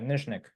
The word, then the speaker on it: Nyzhnyk: Nyzhnyk. NYZH The ZH sound is what throws everyone off. And that's a zh sound.